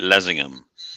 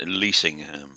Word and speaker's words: Leasingham: Village Hall in Lingham or they call it Lingham it's actually pronounced leasingham l e a s t i n g